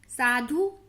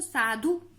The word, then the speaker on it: साधु: तो इस तरीके से अगर हम इसके शब्द देखते, खुश, गुड़, साधु, ना कि साधु नहीं पढ़ते ना इसको, साधु। कुटिया, जामुन, पुलाव, ना कि पुलाव, पुलाव ऐसे देर तक नहीं पढ़ते हैं तो पुलाव।